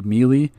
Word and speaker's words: melee: described to us question why do I pronounce Miele instead of melee I get that question a lot to me I honestly I don't know the first time it was explained to me was definitely melee and I just kind